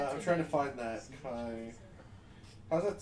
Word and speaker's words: chi: You have the Delta designation and the Chai. the Kai designation? Whatever. C-H-I. It's Kai.